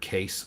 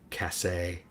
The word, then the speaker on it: case: E makes a say the A sound instead of say ah. Case. C A S E. Right. Yeah. And he's into what now? E is silent and makes the vowel before it say its name. So case instead of cass.